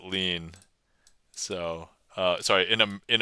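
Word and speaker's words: lien: as in Jimmy yeah lean to me is like French yeah in uh we use this word in English uh and we pronounce it lean so uh sorry in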